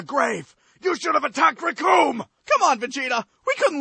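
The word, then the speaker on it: Recoome: As Raccoon was saying, the names! Raccoon! It rhymes with doom!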